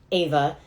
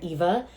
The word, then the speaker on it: Ava: beautiful, amazing beings like Ava. I keep calling her Eva, and I'm trying not to, so the whole episode is just going to be me trying to say her name right.